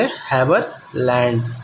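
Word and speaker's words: Haberlandt: इसका हम जो प्रोनाउंस करेंगे वो करेंगे हैवरलैंड, ओके।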